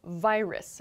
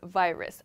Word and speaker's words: virus: sound is pronounced vi virus virus i've sometimes heard students use like a a w sound here it should be a clear v sound virus a virus so to